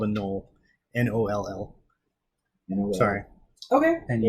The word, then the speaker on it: gnoll: So it's pronounced no. Knoll, yes.